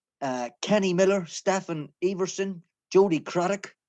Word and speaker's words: Craddock: Miller, Stephen Everson, Jody Craddock, rhymes with Haddock, Mark Kennedy, Nathan Blake,